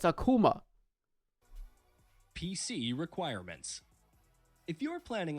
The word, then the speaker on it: Akuma: and they were like hey by the way it's Akuma PC requirements if you're